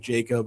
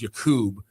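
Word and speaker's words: Jakub: oh, just go with Jacob. I don't need to do Jakob anymore. And he goes, well, technically back home it's pronounced Yakub.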